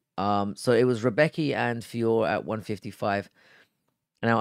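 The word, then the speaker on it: Rębecki: And this took us on to, now I had it pronounced Rebecca. I noticed that in the build-up, it was being pronounced as Renbecki, but I don't give a fuck. It's Rebecca. So it was Rebecca and Fiore at 155.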